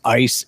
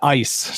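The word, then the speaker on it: Eis: like Draco her name's ice e i s it's a German name okay um her and Draco and how you pronounce that I was like huh yeah yeah yeah yes yeah ice just like uh so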